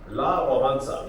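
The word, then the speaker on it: Wałęsa: taking him around then La bansa you pronounce his name as that but he was a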